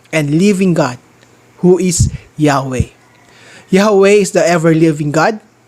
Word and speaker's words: Yahweh: tetragrammaton yhwh most scholars agree that this is pronounced as yahweh which means the eternal one yahweh is the